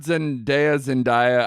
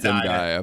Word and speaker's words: Zendaya: I thought Zendaya, am I pronouncing that right? I've heard Zendaya. I go with Zendaya.